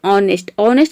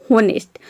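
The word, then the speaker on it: honest: अगला है ऑनेस्ट में आप देख रहे हैं कि केवल हम ओ को ही प्रोनाउंस कर रहे हैं, एच को प्रोनाउंस, अगर यहाँ पे एच को हम प्रोनाउंस कर देंगे तो ये हो जाएगा होनेस्ट, लेकिन हॉनेस्ट हो जाएगा। लेकिन यहाँ पे हम एच को साइलेंट रखते हैं, इसको हम पढ़ते हैं ऑनेस्ट मतलब होता है ईमानदार।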